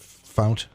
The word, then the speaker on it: Fount: Is that the way you pronounce it? Fount? Fount, yes. Yeah, okay.